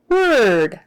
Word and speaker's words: ward: r d is not pronounced Ward it is pronounced word isn't that nice so w a r d